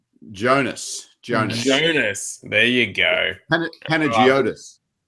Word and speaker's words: Panagiotis: Now, how do you pronounce that chopper's name again? Jonas. Jonas. There you go. Panagiotis.